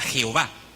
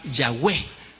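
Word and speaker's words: Yahweh: para tratar de pronunciarlo una mal pronunciación es la palabra Jehová realmente es una una una deformación del nombre de la pronunciación del nombre tal vez la pronunciación más aproximada a es a esas cuatro consonantes es la palabra yahwe que también ustedes han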